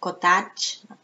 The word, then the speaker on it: cottage: house or a cottage notice the pronunciation cotage cotage like Village you write it with a but you pronounce with I why I don't know but you just have to remember it's Village cotage okay and the next